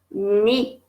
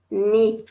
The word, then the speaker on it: knee: Knee, knee. Et ça s'écrit avec un K qui ne se prononce pas.